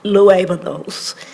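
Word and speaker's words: Luévanos: newest, youngest board member, his last name is pronounced Luevanos, and it has an accent on the E, but he doesn't put it the accent, but his wife does. If it didn't have an accent, it would be Luevanos.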